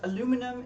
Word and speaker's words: aluminum: Aluminum is British, I think, and aluminium is American. Oh, the other way around? Oh. I'm sorry to say that, but I think the American pronunciation is not correct.